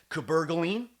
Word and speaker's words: cabergoline: caber premi versus p5p cabergoline that's how you say it cabergoline versus p5p p5p